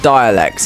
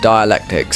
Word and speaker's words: dialectics: dialectics is done and apparently it's not dialects it's dialectics so we say it like that now let's Fair let's go